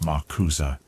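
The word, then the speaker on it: MACUSA: The Magical Congress of the United States of America, known to its citizens as Makosa, pronounced Makuza, stands as one of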